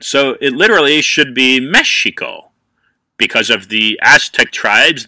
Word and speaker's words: Mexico: Mexico but the Eis the x is actually a sh sound so it literally should be Mexico because of the Aztec